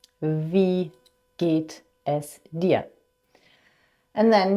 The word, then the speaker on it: Wie: So the W is v, v. Wie geht es dir?